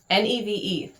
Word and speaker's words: Neve: I've been saying Nave in my head, and that's wrong. Neve.